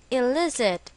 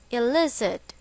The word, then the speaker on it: elicit: it is pronounced as elard with the stress on the second syllable elard examples she elicited anger